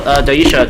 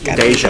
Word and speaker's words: Daisha: So Daisha, do you want to Like deja vu. deja vu? Daisha. Yes.